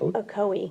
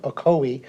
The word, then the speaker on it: Ocoee: wrong oh cheat how do you say it ocoee ocoee she was actually there telling us about this